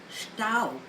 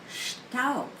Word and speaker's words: Staub: Staub. Staub. The spelling is S-T-A-U-B. And the B at the end of the German word is pronounced as P.